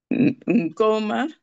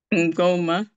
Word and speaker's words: ngoma: Ngoma. Ngoma, ngo. Say ngoma. Ngoma. But don't pronounce N. Just combine it as letter.